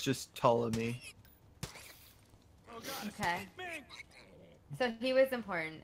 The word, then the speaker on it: Ptolemy: No, I looked up the pronunciation for it. I can post it in the battle chatter. Yeah. It's just Ptolemy.